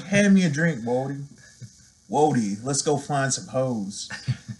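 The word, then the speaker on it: wheauxdie: So that's a French spelling for woody. For those of you hip-hop heads out there, especially those of you who have listened to rap from, like, New Orleans, Louisiana, it's a term you've heard before. But it's pronounced woody.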